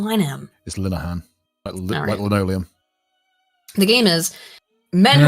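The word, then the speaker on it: Graham Linehan: no but I always Graham Liam it's linan the game is men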